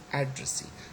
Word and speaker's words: addressee: address and trust and then we have got addressee so the first is also a stress it has become the secondary stress in e the last